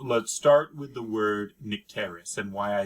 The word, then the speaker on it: Nycteris: So I pronounce it Photogen and Nycteris. All right. Nycteris. We don't say water. I say Nycteris.